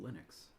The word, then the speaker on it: Linux: I also know that it's pronounced Linux, which I don't like. I say Linux because it makes me think of Linus, and I like Linus.